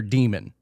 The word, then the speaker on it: daemon: So you would have a daemon, or it's spelled daemon, but it's pronounced demon.